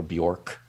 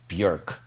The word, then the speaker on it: Björk: or interviewers called her Bjork, and she looked at him, and butter wouldn't melt in her mouth. She just looked at him and she said, "It's pronounced Björk, like jerk."